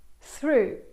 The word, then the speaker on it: through: Through. Qui OUGH ha il suono U, come nella parola true o to o blue.